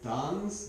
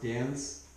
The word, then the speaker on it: Danze: see and this is made by Dans d n z maybe it's meant to be pronounced dance I guess that's clever it comes